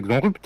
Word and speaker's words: Xonrupt: Heureusement que tu lui demande pas de prononcer Xonrupt alors, parce que.